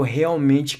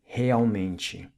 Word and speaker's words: realmente: If a word starts with an R in Portuguese, then it's pronounced like an H, as in realmente.